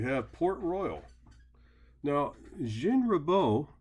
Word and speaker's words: Ribault: Now, Jean Ribault, remember in French the T is silent, was basically a soldier of fortune.